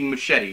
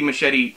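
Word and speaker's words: Muschietti: and over him but I believe it's Andy machete right I know it sounds like I'm saying my machete like a you know the knife sword thing they use a chop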